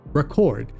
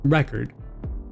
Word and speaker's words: record: In American English, the pronunciation of this word changes a lot depending on whether it's used as a noun or a verb. When it's used as a verb, it's pronounced record.